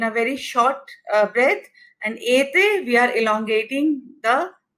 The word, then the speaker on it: été: It's like été. Été is summer in French. So, E with this slanting line, it becomes A. Été. Then this is accent aigu. Then we have accent grave. Accent grave, this is again E with a slant in the other direction. This becomes like A. It's not elongated as A, it's A. From mère. Mère is mother in French. So this becomes mère. You see the difference? Été, mère.